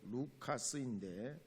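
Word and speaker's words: Λουκᾶς: 누가복음과 사도행전은 누가가 기록했습니다 누가는 헬라 발음으로 루카스인데 바울의 동역자요 2차 전도여행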